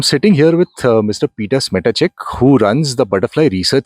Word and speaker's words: Smetacek: You could put a soft T to it. Okay. Smetacek.